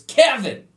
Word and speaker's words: Quevin: Quevin, and the kid goes, "It's Kevin." What? His name was Kevin, spelled Quevin. Q does not make the K in any fucking...